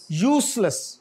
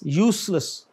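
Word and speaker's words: useless: यूसलेस, नॉट जेड बट एस, यूसलेस.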